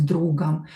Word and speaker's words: другом: This O will be pronounced as A. С другом.